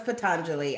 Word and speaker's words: Patanjali: okay we worked it out I know it's patanjali I know because I can hear the people already saying I know how it's pronounced I say Deli because that's how I